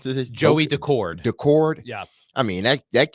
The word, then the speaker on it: Daccord: Every opportunity to take the lead, and for whatever reason, I mean, Seattle's goalie, how do you pronounce this? Joey Daccord.